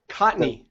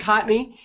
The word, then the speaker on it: Kontny: it's like the uh it's like the first n is silent cotney yeah yeah k o